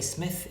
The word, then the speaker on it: Psmith: smith by the way smith is spelled with silent p at the beginning and the reason is